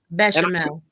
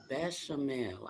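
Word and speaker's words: béchamel: That I gotta ask you this because I couldn't pronounce it. You said something about a sauce that your macaroni is in. Exactly. Bechamel. Bechamel.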